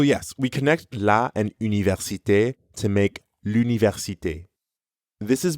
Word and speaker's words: université: Notice how you can hear the same R sound in université as in merci. Mère. Université. Université. At the beginning of université, you can also hear the U sound from une.